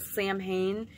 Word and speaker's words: Samhain: It doesn't mean that you can't observe the solstices, Yule, Samhain, which is actually, it looks like it's spelled Samhain. It's actually pronounced Samhain, and of course that is All Hallows Eve.